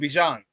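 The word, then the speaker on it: Bijan: Bjan Robinson, that's how he say his name. Bjan. It's not Bjan, it's Bjan.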